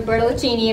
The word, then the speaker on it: Bertolaccini: Yeah, so my name is Bertolaccini, or Bertolaccini if you're feeling cultured. Bertolaccini is the American pronunciation.